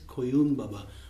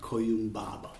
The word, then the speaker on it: Koyun Baba: We are here today to discuss about this very old piece, Koyun Baba. So, the pronunciation is Koyun Baba with the accent of Koyun Baba, and not Koyun Baba.